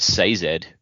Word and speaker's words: Sazed: Well, I mean, like I watched that video from the con where he's talking, and he pronounced it Sazed.